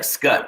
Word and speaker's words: Scut: it's not spelled like scott but it's not pronounced scott yes s-c-u-t like like skutt like yeah just i worried